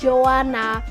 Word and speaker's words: Joanna: there you know it's Joanna j o a double n a why is it that people always like disregard the last letter Jo it's not Joan